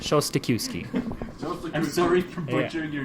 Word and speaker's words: Szostakiwskyj: I'm like, Yeah, the trick's not to pronounce the J or the Z.